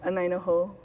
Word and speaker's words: Anaina Hou: Pisciotta is the president of the Mauna Kea Anainahau, a native, how do I pronounce that? Anainaho.